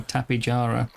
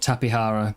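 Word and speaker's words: Tapejara: And they pronounce it with a like they use a J sound instead of H. So it should actually be with a it should be tapara. I always thought tapihara was was the proper way as well.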